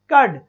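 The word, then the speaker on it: curd: संजू ने, राही ने, संजू बिल्कुल सही आंसर है, केवल र नहीं बताया ना, कर्ड, क्योंकि र को नहीं बोला जाता, उसका प्रोनाउंसिएशन नहीं होता।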